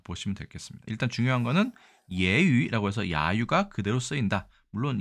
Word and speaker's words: 揶揄: 중국에서는 똑같이 예유라고 발음합니다. 예유.